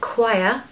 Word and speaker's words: choir: need this word uh just think of the word quiet so everybody can say that right quiet quiet now just take away the tea so Qui Qui you can do it I know you can just say quiet take away the tea you have the word perfectly quiet I used to be